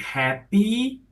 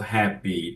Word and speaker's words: happy: For example, the word happy ends with Y, and Brazilians tend to ignore it and say hap instead of happy.